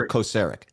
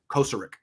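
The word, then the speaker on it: Kocurek: is it closer to kosarick kosarick closer emphasis on first i always question myself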